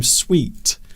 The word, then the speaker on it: suite: We normally say your bathroom accessories or your bathroom suite, things that go together in a collection. Is that SUIT? Would you pronounce yes.